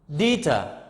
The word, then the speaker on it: deter: So another word, deter. Deter. So deter, t, is at the end of the word. I mean, the second syllable or the last syllable is stressed.